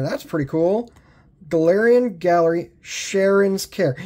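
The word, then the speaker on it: Cheren's Care: Like I said, this is pronounced Sharon's Care.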